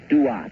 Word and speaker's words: Duat: The ancient Egyptians spoke of a special region of the sky, and they called that region of the sky the Duat. It's spelled D-U-A-T when you transcribe it into our alphabet.